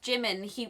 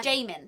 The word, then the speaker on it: Jimin: get away with this because it's just a mispronunciation like that's absolutely fine he was them when he found Jimin who was like oh you sit there Jamin he was calling Jamie but you referred to